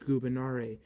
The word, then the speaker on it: gubernare: In classical Latin, there is no V. It's pronounced gubernare, meaning to control.